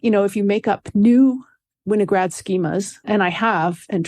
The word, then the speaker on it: Winograd: And I guess I've been pronouncing it wrong all this time. Winograd schemas, thank you.